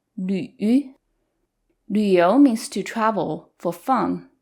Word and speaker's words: 旅: With the umlaut on top and with the third tone, this combination is 旅旅. You have to push your lips close together and forward. 旅游 means to travel for fun.